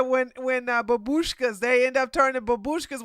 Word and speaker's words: babushka: No, it's not babashikas. Hold on. At least want to marry 5 Slavic. Babushka. Babushkas. That's what it is.